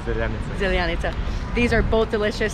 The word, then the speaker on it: Zeljanica: Zeljanica. I feel like I'm saying it right. It is zeljanica.